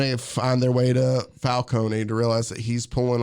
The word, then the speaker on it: Falcone: just I can't remember it's Carmine Falone I don't know why I keep saying Falcone I'm pretty sure it's Carmine Falcone I think I've heard somebody bothal so it just feels like I'm saying it wrong either way he's not